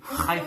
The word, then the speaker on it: Haifa: Also, wild boars have been seen roaming the streets of, Haifa. Is that how you pronounce it, Ima? Haifa? Haifa, Israel. I'm an Israeli citizen, so Haifa.